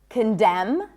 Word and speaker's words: condemn: The N is silent in the words hymn, not hymn, condemn, closing my lips, ending with an M, autumn, and government.